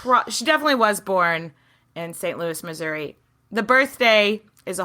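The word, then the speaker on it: St. Louis: pronounce this and overwhelmingly everyone was like it's St Louis you pronounce the S okay so somebody needs to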